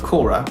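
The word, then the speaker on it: Quora: speaking of which I've recently joined Korah and yes that's the right way to pronounce it in case you don't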